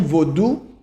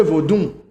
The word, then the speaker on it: Vodou: people are calling vodon the word is vodou but when you move from the ave dialects moving uh to togo and moving towards benny people speak in their they use nassau sound to pronounce things so instead of saying vodou they say vodoon and a lot of